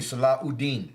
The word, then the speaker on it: Saladin: Really, Saladin.